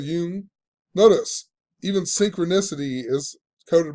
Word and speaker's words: Jung: And it's coined by this guy, however you say his name, Carl Jung, or Jung. It's not Jung, I guess, but Carl Jung.